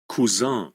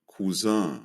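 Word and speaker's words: Cousin: কাজীন যেটা সেটা সেটা কিভাবে বলে শুনেন খুজা খুজা খুজা ঠিক আছে নরমাল নিয়মের থেকে ব্যতিক্রম আর পরেরটা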